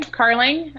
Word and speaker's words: Carling: main screen this is carling and introduce yourself say hi to everybody hi everyone i'm carling um somebody's going to ask how you spell your name it's uh like darling but with a c so that's how when